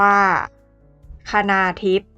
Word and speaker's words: คณาธิป: ชื่อ คณาทิพย์ กัน ค่ะ คณาธิป สะกด ด้วย ค ควาย น เณร สระ อา ธ ธง สระ อิ ป ปา อ่าน ว่า คณาทิพย์ สะกด ด้วย ภาษา อังกฤษ